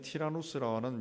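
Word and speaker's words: Τύραννος: 두란노 소원에서 날마다 강론했다 두란노라 하는 것은 원래 그 헬라 발음으로 티라노스입니다 티라노스 번역되면서 듀란도 있는데 고대 헬라 세계는 티라노스라는 유명한 철학자가 있었는데 그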